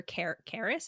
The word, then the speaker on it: Carys: I've only heard it spelled Carys. Yeah, with a Y. Caris. See, Rhys with a Y, Caris with a Y.